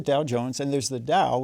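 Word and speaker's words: Tao: And there's the Dao, which is pronounced the same way, but that's the Dao De Jing, right from Laos Su.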